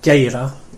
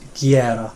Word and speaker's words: gera: So not geira, but gera.